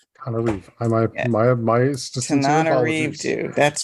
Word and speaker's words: Tananarive: I will correct the pronunciation of my name because it's a little challenging. It's Tananarive. Tananarive.